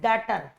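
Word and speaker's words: debtor: Asset है that is डेटर। लिखते इसको डेबिटर है, लेकिन बोलते इसको क्या है, डेटर। बी इसमें साइलेंट होता है, बी इसमें क्या होता है, साइलेंट होता है, तो डेटर बोलते हैं इसको।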